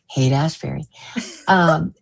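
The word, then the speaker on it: Haight-Ashbury: Now I can say it correctly, thanks to DJ at Calling All Beings, who taught me how to pronounce Haight Ashbury.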